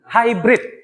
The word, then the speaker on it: hibrida: kendaraan hibrid ada tidak penulisannya hibrida bacanya hai ha Hybrid ya pak tekankan di